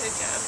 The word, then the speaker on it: hijab: The play seemed to be a lot about that you wear the hijab. Am I pronouncing it right?